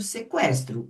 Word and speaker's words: sequestro: Mas vejem, tiraram o trema e a gente continua falando sequestro. O U continua sendo pronunciado, certo?